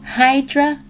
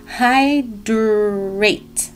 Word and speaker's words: Hydr-8: gonna try this out this is vegamore Hydra no hydrate hydrates hydrates spelled like this leave-in conditioner made